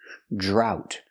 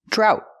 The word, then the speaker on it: drought: jump, plus the R, drought. We see the OU making the OW sound like out and about, drought. And the T is a stop T, drought. And remember, GH together is silent.